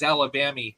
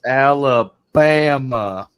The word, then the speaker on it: Alabama: refer to Alabama as Alabamy because it rhymes with Mammy. I don't know. I got to go back and hear that song again. It's been forever. It's pronounced Alabama.